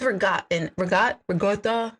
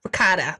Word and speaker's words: ricotta: Oh, with regatta. I don't say it right. Ricotta.